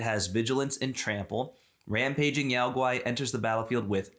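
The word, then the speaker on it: Yao Guai: Hey, so we got a rampaging Yao-Guai. Okay, that is how you pronounce it. Yes. All right. It's a Yao-Guai.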